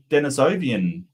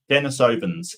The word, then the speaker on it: Denisovan: Where's the Denisovian? Denisovans. Yeah, Denisovan. Thank you, Sydney. My pronunciation is terrible.